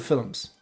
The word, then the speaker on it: film: That's how you correctly pronounce film. Film. Two syllables. Forget this one syllable crap.